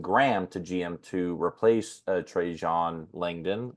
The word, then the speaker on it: Trajan: to GM to replace Trajan Langdon. How do you pronounce it? I said Trajan. I think it's actually like Trajan.